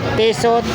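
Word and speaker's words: Tissot: Tiso ang tamang pronounce daw po rito.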